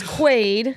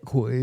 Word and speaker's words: Quaid: name is Dick best Dennis Quaid not quid Aaron eart Aaron eart